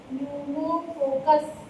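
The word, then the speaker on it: Pneumococcus: ठीक है, अलग ही स्पेलिंग है, न्यूमोकोकस, PNEU, न्यूमोकोकस न्यूमोनी।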